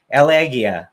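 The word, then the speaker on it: Aliağa: on its way to how they said it elegia elegia turkey that's how you say it to the scrapping to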